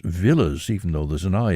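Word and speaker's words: Villiers: of Lock's fam wife's family and that's actually pronounced Villas even though there's an eye in it Elizabeth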